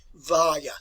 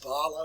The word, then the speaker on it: Valla: the name of Lorenzo Valla. So let's learn how to pronounce that. Valla, not Vala or Vala.